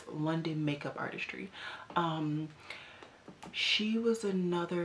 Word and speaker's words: LonDen: She like her name, I never say her name right, so let me go to Instagram because I always want to call her Lauren, but it's LonDen Makeup Artistry.